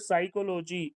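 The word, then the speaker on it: psychology: वि ऑफ the following the silent letter in the world साइकोलॉजी एस एस बीपी सी वाई डीसी साइकोलॉजी इन साइकोलॉजी the world is peace silent she has been living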